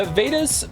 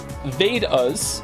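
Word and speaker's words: Vedas: thank you Emperor chinoo the vadas pronounced vas and upanishads your pronunciation was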